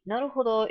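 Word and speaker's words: 成歩堂: Naruhodo is a play, with a long O at the end, is a play on Naruhodo, a phrase that means kind of I see, I got it.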